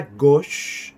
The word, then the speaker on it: gauche: À gauche. Sonido O.